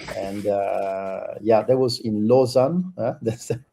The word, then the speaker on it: Lausanne: That was really at the master, and yeah, that was in Lausanne. That's the right pronunciation, Sunny.